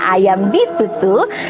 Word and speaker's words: Ayam B22: Ingat yang tulisannya Ayam B22, bacanya Ayam Bitutu, yang ada di Jalan Bontomanai nomor 1.